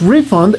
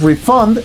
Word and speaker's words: refund: Si lo pronuncias refund, estás hablando de un noun, el concepto de la devolución. Pero si lo pronuncias refund, se refiere a la acción de regresar el dinero.